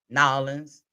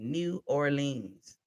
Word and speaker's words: New Orleans: Nolans, how they say it? I was that person that said New Orleans. They could see me a mile away. So I had to learn real quick. Nolans.